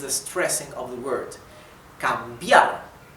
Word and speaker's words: cambiar: Cambiar. As you can see, the stress is in the letter A, right? Letter A. Cambiar.